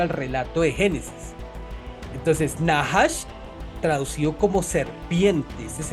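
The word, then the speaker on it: נחש: En el libro de Génesis, la palabra hebrea usada para serpiente, o sea, la que tienta Eva, eh se pronuncia como nahash.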